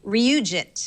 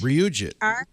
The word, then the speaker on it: RyuJIT: The code name pick of the week is, I think I'm going to pronounce this correctly, Ryujit. Ryujit.